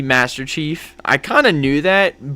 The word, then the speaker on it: Masterch33F: I mispronounced his name. It's supposed to be Master Chief. I kind of knew that, but I don't know. I just read it like a nerd. Master Ch.